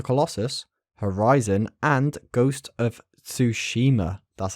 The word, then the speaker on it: Ghost of Tsushima: resistance shadow to colossus horizon and ghost of tsushima that's how you pronounce it davey thank you very much so